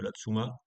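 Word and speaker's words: La Tzoumaz: le village de de Latsuma puisque a priori les Suisses ne prononcent pas les aides finaux dans les mots. Donc on dit la Tsuma ouais Savoya peu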